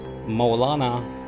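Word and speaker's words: Mowlana: known by the subrequit which means maulana or maulana in persian in persian pronunciation and in iran and popularly known as mavilana and in turkey mawlana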